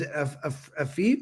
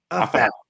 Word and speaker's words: Afef: And I want to pronounce her name is Afif. How do you say it? Afef.